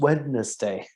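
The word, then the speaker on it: Wednezdai: No, it's pronounced Wednesday.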